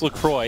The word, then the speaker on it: LaCroix: Is that how you say it? Well, so Yes, their website explicitly it's a bit of a says- toss-up. So it is, yeah, they claim it is LaCroix.